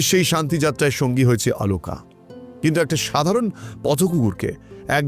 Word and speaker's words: আলোকা: ও আসলে একটা mail dog, তবে উচ্চারণের খাতিরে বা হিন্দি টানে ওকে সব জায়গায় আলোকা বলে উল্লেখ করা হয়েছে। ঠিক যেমনভাবে আমরা অনেক সময় অশোককে অশোকা বলে থাকি, এটাও ঠিক তেমনই।